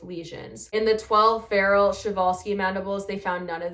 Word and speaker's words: Przewalski: It's spelled like Przewalski, but a lot of people say it wrong, and I found out it's pronounced Przewalski.